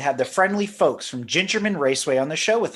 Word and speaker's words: Gingerman: the founding of Ginger a lot of people you know they pronounced it gingerman Raceway but it's actually ginger man it's not a big deal you know but it's ginger man cuz the track was